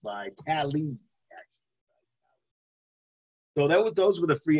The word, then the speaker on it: Vitale: And defensive back Adrian Phillips and fullback Dan Vitale, pronounced by Tally.